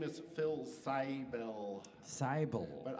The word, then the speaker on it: Seibel: my name is Phil cybelle cybel but I can't pronounce my own family name actually properly because I grew up speaking in American English and that it's a German name so that's that okay